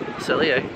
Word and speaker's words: Le Cellier: Le Cellier.